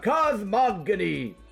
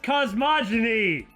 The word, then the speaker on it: cosmogony: Well then, why don't we have a heated discussion about cosmogony? It's pronounced cosmogony.